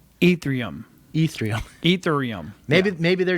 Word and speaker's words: Ethereum: guess um was it ethium is that how you spell it pronounce it oh it is i think it's pronounced um ethereum ethereum ethereum maybe maybe